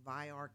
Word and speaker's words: Vayyar: It's pronounced VAYAR Care System, and it's going to be a game-changing technology within our care industry.